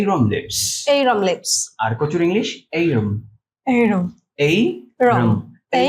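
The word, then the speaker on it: arum: ইংরেজি কি অ্যারম লিভস আবার অ্যারম লিপস একটু উচ্চারণটা ঠিক করে দিচ্ছি ওকে স্যার অনেকে আমরা এটাকে অ্যারম লিভস বলি অ্যারম না আসলে এইরম এইরম বলেন আমার সাথে এই রুম এইরম লিভস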